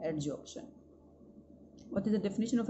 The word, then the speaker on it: adsorption: एडजॉर्प्शन spelling में यहाँ पर डी आता है, एडजॉर्प्शन.